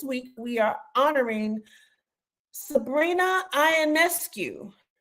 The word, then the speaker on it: Ionescu: we are honoring Sabrina ionescu I say it right it's an askue but you were close okay yeah so uh KD did three for that so let's take it away Sabrina iancu a basketball virtue ofo